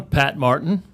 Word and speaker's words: Pat Martin: So I'm Pat Martin. Was that correct? That was correct. Unless I mispronounced it, then you're way off.